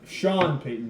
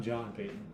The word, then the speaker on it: Sean Payton: No, Sean Payton, not John Payton.